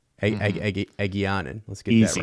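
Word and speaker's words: Egeanin: character's name I could not say last episode, Egianen. Egianen. Let's get that right. Easy name to pronounce. Easy name. Yeah. Egianen.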